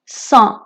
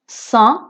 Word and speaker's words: sang: sang sang মানে হচ্ছে রক্ত। এটা পুরুষ লিঙ্গ আর এখানে জিটা সাইলেন্ট, সো এটা হবে le sang।